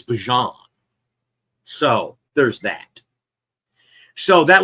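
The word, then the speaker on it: Bijan: By the way, learned yesterday we've been saying his name wrong for two years. It's not Bejon, it's Bjon.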